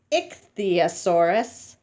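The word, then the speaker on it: Ichthyosaurus: you say it like this it the Soros it's the asaurus it Ixia Soros it's the asaurus it's the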